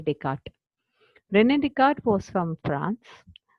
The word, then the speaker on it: Descartes: You can see the spelling as DES, but the pronunciation will be Rene Descartes.